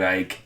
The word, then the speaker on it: Icke: Google David Icke. Icke is how you spell Icke. Is that Ike or Ick? Everywhere I look to pronounce it Ike.